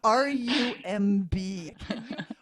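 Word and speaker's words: RUMB: how to pronounce it r-u-m-b one pronounce it for me and then can you explain what it stands for and where it comes from it's rum and it actually is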